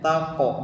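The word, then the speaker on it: تَقْ: Ya di pantulan kopnya tako bukan take ya.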